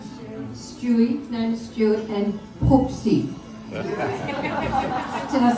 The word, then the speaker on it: Poopsie: Stewie, known as Stuart, and Poopsie.